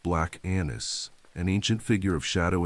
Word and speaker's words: Black Annis: This is the tale of Black Anis, pronounced Black Anis, an ancient figure of shadow and soil.